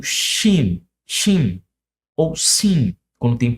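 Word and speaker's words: שין: Então, shin, ele tem um som de CH.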